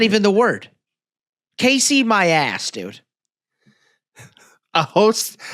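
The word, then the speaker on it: Caissie: Casey.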